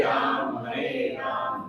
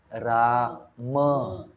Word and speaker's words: राम: Hare Krishna Krishna Krishna Hare Hare Hare राम राम राम Hare Hare. It's राम, इट्स राम, इट्स राम, वो रम पीने की तरह लगेगा फिर। इट्स राम।